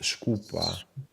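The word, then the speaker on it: skupa: Meanwhile, so it's pronounced scupa. Scupa. Very similar to Italian.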